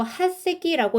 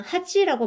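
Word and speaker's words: 八隻: 여덟 척 중에 자 원래는 요거 핫새끼라고 읽는데요. 어 뉴스에서는 요렇게 초금되는 거를 그냥 하지라고 많이 읽습니다. 왜냐면은 요거 발음을 정확하게 해서요 여덟 개라는 거를 확실히 발음을 하려고 하는 거 같아요.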